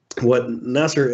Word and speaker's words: Nassar: Nassar?